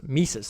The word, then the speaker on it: Mises: Lecture, Mises, that's how you pronounce it.